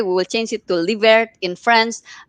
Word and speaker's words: Livert: that it will be l i v e r t livert leave it yes exactly it kind of almost sounds a little bit like delivery if you say it exactly yes yes